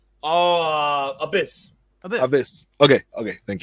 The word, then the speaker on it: Abyss: don't know I was with confused how to pronounce the Joseph Parker wrestling name oh Abyss Abyss Abyss okay okay thank you but I